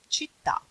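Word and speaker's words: città: middle of the world we have only the accent on the last letter of the word for example cheetah this is a one word that end with an accent in Italian any means City Atlanta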